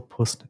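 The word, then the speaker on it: puisne: I am conscious of the reality that as a single Puist judge, and the Puist, I had to look it up because it's spelled P-U-I-S-N-E, and it basically just means judge of lower rank in the hierarchy.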